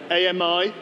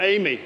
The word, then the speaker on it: AMI: the deep learning army ami or Amy depending on how you want to pronounce it the AWS Amazon machine